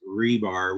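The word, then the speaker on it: RBAR: and yes it is pronounced rebar with an e in it very much like the little metal rods hopelessly stuck in cement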